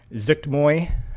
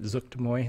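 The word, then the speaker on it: Zuggtmoy: the demonic boon of Zuktmoy, I think that's how you pronounce it, Zuktmoy, that's how I say it, like you're sneezing almost.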